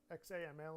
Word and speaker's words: XAML: the application logic and XAML it's pronounced zamel for the declarative portion